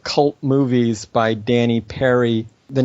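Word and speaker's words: Peary: cult movies by Danny Perry the name is PA ry but it's pronounced like Perry it looks like Puri okay and it is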